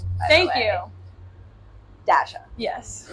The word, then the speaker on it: Dasha: Because whenever I saw Dasha, I was like, I kept wanting to say Dasha. Yeah. Okay, that's Russian. I think it's traditionally a Russian name.